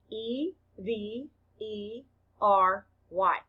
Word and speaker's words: every: spell it out loud e v e r y the first e stands for the short e sound f the second e is silent the letter y stands for the long e sound e blend each syllable